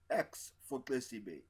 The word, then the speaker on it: Xesibe: let me help you x4 tasty Bay if you let me click your tongue at the sides of your mouth you hear the sound